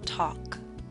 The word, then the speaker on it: talk: yawn boss taught gone talk note the L is silent in talk now I wish to